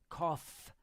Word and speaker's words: cough: wrong way this one cough pronounce like an F cough that's cough yeah English is terrible